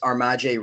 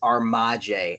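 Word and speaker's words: Ar'Maj Reed-Adams: It is Armaje, and that caught me way by surprise. I was thinking I shouldn't even bother looking this up. It's obviously Armaj, but nope.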